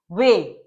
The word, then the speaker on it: weigh: To make them weigh. GH silent है, avoid करेंगे. weigh the coal.